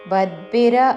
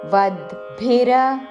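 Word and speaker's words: वद्भिर्: గతిర్ ദുഃഖన్ ദേഹव्यते దేహ వద్భిర వ పక్కన ద కి మహా ప్రాణము భദ്ద్భిర అనకూడదు వద్భిర వద్భిర వాప్యతే వ పక్కన ప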